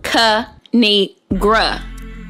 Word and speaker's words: Kinigra: me tell y'all a thing of three it's pronounced cu negra now subscribe oh i cracked myself up thanks